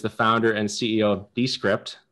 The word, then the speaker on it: Descript: Andrew Mason is the founder and CEO of Descript. I keep saying Descript, so I gotta pronounce the E's at the beginning.